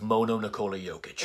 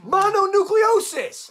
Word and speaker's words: mononucleosis: Mononucleosis! Not mono Nikola Jokic!